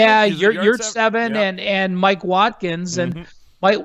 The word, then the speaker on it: Yurtseven: Is that how you pronounce his name? Yeah, Yurtseven and Mike Watkins.